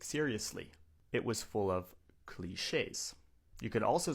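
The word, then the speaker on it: cliché: When something is cliche, it means it's been done so many times that it's unoriginal, it's boring, it's overused, it's cliche. Now, this is a French word.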